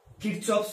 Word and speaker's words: Kirchhoff: কিরচফস loss, তো German বিজ্ঞানী কিরচফস, তো যেহেতু এটার প্রোনাউন্সিয়েশন বিভিন্ন ভাবে আমরা দেখে থাকি, এটাকে কিরচফস লস এরকম বলা যায়, কারচফস লস এরকম বলা যায়, কিরচফ লস এরকম বলা যায়।